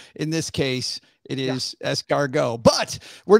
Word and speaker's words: escargot: put it there if you're not supposed to pronounce it very good point however in this case it is escargot but we're not here to debate that we're